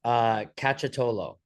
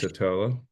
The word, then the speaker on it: Cacciottolo: Cacciottolo, like catch Cacciottolo. tolo, like catch a toe, foot.